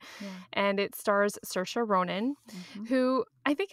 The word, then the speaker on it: Saoirse: Oh, yeah, Saoirse. Yeah. Just so people know who you're actually referring to because you pronounced it perfectly.